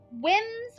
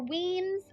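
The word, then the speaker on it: Wemyss: loms the lair of Easter whims or weams I have seen it pronounced both ways Lewis Beldon Robert Boyd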